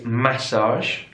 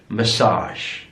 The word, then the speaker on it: massage: on the first syllable looking at the stress again here in British English it's massage massage stress on the first syllable in American English massage massage so stressed on the last syllable massage massage massage here's